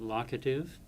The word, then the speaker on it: locative: Grammarians pronounce it locative, like lock and key.